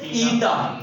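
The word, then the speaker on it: eta: represent कंदा आहियूं एंड इट is pronounced as ईटा इन के छा प्रोनाउंस कंदासी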